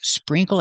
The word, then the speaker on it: sprinkle: So remember, you can use sprinkle as a verb. Sprinkle, sprinkle, 2 syllables. Use a long E sound, spring. Use the nasal sound, like ring and sing, spring, coal.